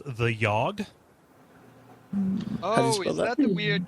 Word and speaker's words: The Yawhg: I played several times a game called the yog oh is that the weird Choice game yeah